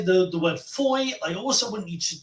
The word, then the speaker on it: Foy: the first move so the first sound is Foy so you could spell it f o y i or f-o-i says Foy like boy but if you can